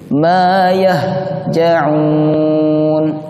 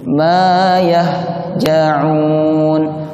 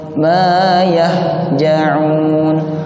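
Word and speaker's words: ما يهجعون: Huruf H itu diucapkannya di tenggorokan, bukan di dada. Yang di dada bunyinya seperti ini. Ma yahja'un, ditekan.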